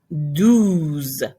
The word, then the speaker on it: douze: Un, onze. De, douze. Your E changes to an O. I mean, pretty much add the ZE. So de, douze. De or douze.